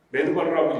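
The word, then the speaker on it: מדבר: 번째 비밀이 있다는 것입니다 광해를 히브리어로 미드 바르라고 합니다 미드바르 메드 바르라고 읽기도 하는데 미드 바르라는 뜻은 말씀이란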